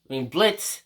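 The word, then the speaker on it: Blitzø: And he basically speaks with Blitzo. Actually, Blitz, the O is silent.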